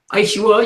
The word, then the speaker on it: Ishuwa: And he's going to be channeling for us Ishuwa, the Yahyel. Do I pronounce that correctly? Ishuwa, you can say Ishuwa.